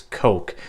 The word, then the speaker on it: Koch: And if you're wondering how to pronounce H and K, it's actually pronounced HECKLER and KOCH, not KOCH.